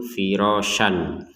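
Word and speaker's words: فِرَاشًا: sini tanwin ya fathatain tulisannya itu firosyan tapi barusan kita bacanya firosya nah ini namanya Mad Iwat jadi Mad Iwat ini adalah tanwin fathatain ini yang karena kita wakaf sehingga ini dibaca dengan ee menjadi firosya menjadi yang di sini harakatnya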